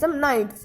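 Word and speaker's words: knights: Many handsome नाइट्स, इसमें के silent है, इसमें many handsome नाइट्स and Lord's came seeking her hand in marriage.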